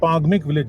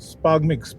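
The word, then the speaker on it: Spangmik: पांगमिक विलेज, स्पागमिक भी बोल देते हैं, बट एक्चुअली प्रोनाउंसिएशन है पांगमिक विलेज है।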